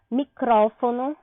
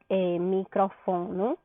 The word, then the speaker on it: micrófono: Aí, olha só, micrófono, eu não digo microfono, né, que é microfone, eu não digo microfono, eu digo micrófono.